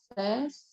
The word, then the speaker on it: says: Bet, reception, says, and guess. Right. And this is a good one to pay attention to. S-A-Y-S is says. Yes. It's the S and then this phonetic sound and then the Z sound, says.